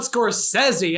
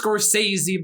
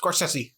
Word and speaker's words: Scorsese: is a good day everybody we're talking about scorsese and that's the right way to pronounce it none of this scorsese bull crap scorsese is the man himself says scorsese yes that sounds very fast oh yeah nose